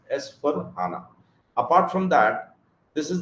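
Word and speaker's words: S/4HANA: of pronouncing it, but SAP guys pronounce it as S for HANA.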